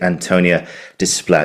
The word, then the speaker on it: Antonia Desplat: And it gives me great pleasure to welcome the fantastic Antonia Display.